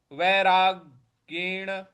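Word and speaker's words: वैराग्येण: पद है वैरागण वैराग ग पर हमको आघात देना है। वैराग वैरागण च गहते च गहयते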